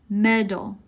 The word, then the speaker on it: metal: glass leather leather metal medal it's almost like a D sound instead of a teeth metal med dull plastic plastic uncomfortable uncomfortable